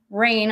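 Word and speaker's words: Raine: It's called The Rain Continues, and Rain is spelled like my last name.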